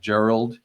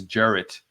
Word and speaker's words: Jarrett: Chief assistant district attorney is not Gerald it's Jarrett a woodfork and that's in